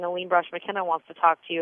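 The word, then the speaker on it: Aline Brosh McKenna: Elaine Brosh McKenna, yes.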